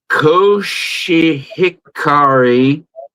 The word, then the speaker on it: Koshihikari: They call it Koshihikari.